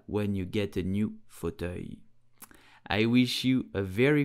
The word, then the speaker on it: fauteuil: So in French we will say fauteuil. Fauteuil. Here the second syllable is what is complicated. So pronounce it œil.